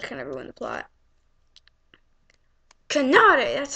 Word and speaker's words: Kanade: Kanade, that's how you say her name.